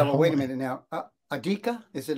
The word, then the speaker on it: Augeri: towards me it's okay the Italians say algeri and that sounds really great but how many times